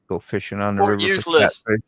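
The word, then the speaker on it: Fort Eustis: Fort useless. Say it right. Fort useless. Fort useless. I know. Yeah, that's what we I'm glad you knew that because not many only locals usually know or people who've been there.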